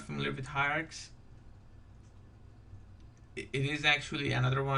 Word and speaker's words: Hiarcs: It's going to be Hiarcs. And now I hope I didn't butcher the name, but I went to their website and that's how they pronounce it.